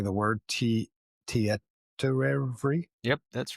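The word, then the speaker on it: Tietoevry: There's a Finnish IT cloud provider that they hit called, I don't even know how to say the word, Tietorevry.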